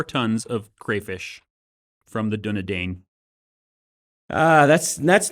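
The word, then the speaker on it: Dúnedain: Yeah, I always said Dunadane growing up. Not Dunadine. Well, the movies say Dunadine, so I assume that they're correct, right? I mean, Christopher Lee would give them an earful if they were pronouncing it wrong.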